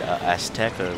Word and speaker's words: Azteca: When we get to and they actually in the patch notes made might as well just go say it, Azteca, which is the world before Chrysalis.